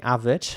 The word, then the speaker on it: avid: Yeah, so in British English, the A at the beginning is pronounced like an R, avid. Avid. Avid. And American English, it would be more like avid.